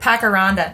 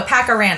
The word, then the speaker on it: pacarana: I've seen this Pacaranda. Pacarana. It has no D.